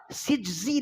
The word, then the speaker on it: سجزی: ہے، تو اصل لفظ ہے سجزی، نون کا نقطہ نہیں ہے، نون کا نقطہ آگے جائے گا وہ زے پہ لگے گا، وہ رے پہ لگے گا اور زے بنے گا وہ۔ تو صحیح تلفظ یہ ہے، یہ غلط العوام ہے،